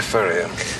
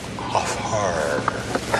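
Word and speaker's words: Hfuhruhurr: Dr. Furrier, it's Haffer. I'm sorry. That's all right. A lot of people mispronounce it, but it sounds just the way it's spelled.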